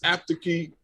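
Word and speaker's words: apteekki: Anyway, did I get this apteki part correct? It's called apteki. Apteki. Apteki. And you have to say the double K.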